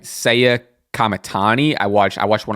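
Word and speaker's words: Saya Kamitani: Pretty recently, I just watched a I had to get the pronunciation right. Seiya Kamatani.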